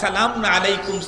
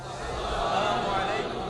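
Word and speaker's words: السلام عليكم: আসসালাম আলাইকুম ওয়া রাহমাতুল্লাহ আসসালামু আলাইকুম ওয়ারাহমাতুল্লাহ আবার আবার বলি আসসালামু আলাইকুম আসসালামু আলাইকুম শুরুর হামজা যেন স্পষ্ট উচ্চারণ হয় সালামু আলাইকুম এমন যেন না হয় আল্লাহ মাফ করুক অনেক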